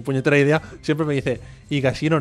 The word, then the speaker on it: Higashino: idea, siempre me dice, Higashino no, se pronuncia la H, Albert.